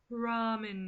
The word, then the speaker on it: ramen: about this week that gets my go is Raymond Noodles I know I say it wrong I know it's pronounced ramen noodles but it's spelled raymen who the [